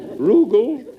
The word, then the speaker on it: Rugal: roogle Rugal it rhymes with Google would you like a